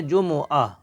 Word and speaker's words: جمعہ: آہ جمعہ۔ عربی میں اس کو پیش کے میم کے پیش کے ساتھ پڑھیں گے، جمعہ۔ اردو میں جمعہ ہے۔